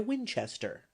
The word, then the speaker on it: Winchester: neighborhood, you want to pronounce it with a very long drawl, and the accent on the second syllable.